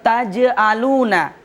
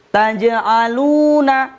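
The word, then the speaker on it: تجعلونَ: Taj'aluna dipantulkan sedikit, Ustaz. Jangan ditahan atau tajaluna misalnya. Berarti itu salah, Ustaz, ya.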